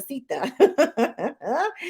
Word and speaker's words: Seetha: He says you pronounce his name like Mama Seetha.